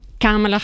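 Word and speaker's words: Kamala: que ya fue precandidata ya explicó que se pronuncia con la tilde en la primera cámara vamos a escucharla a ella misma decirlo para salir de dudas Hi everyone cala Harris camala Harris Bueno desde hoy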